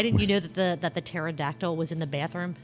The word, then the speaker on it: pterodactyl: Why didn't you know that the pterodactyl was in the bathroom? Because the P is silent.